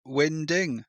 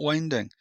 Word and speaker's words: winding: It's not called winding, it's called winding. Apparently, according to the glossary that I looked up, a winding is the area where boats turn around, and it's pronounced winding, not winding.